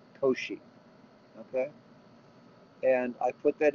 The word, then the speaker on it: Cauchy: at oshi products okay that's pronounced o she Co she okay and I put